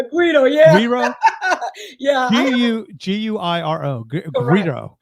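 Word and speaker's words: güiro: Is that, did I pronounce that correctly? Guido, yeah. Guiro? Yeah. Guiro.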